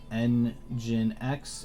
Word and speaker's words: nginx: shade back at him all right so apache n gen x and microsoft's iis uh yep you said it